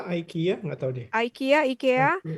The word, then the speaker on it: IKEA: IKEA ya? Ya, IKEA nggak tahu deh. IKEA. IKEA. Kalau orang Swedishnya Sweden. bilangnya IKEA. Oh, Kalau IKEA. Amerika bilangnya IKEA.